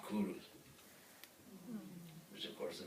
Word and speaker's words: Cyrus: And number two, his name was not actually Cyrus, that's English pronunciation. In his own language, his name would be Kuru, which of course is a very famous name for kings, Kuru.